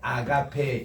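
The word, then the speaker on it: ἀγάπη: 발음을 한번 따라갑니다 또 아가페라는 말 아가페 이렇게 나오는데 이게 이제 아가페 용어 여기 두 번째 엑센트 있습니다 요런 말이죠 아가페 그리고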